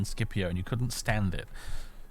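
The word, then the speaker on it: Scipio: had to stop because the narrator could pronounced skipio as cpio rather than skipio and you couldn't stand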